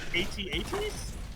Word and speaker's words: AT-AT: You mean like AT-ATs? Yeah, like the AT-AT, the AT-PT, or the AT-ST. I think that's, Actually, they are pronounced at-ats.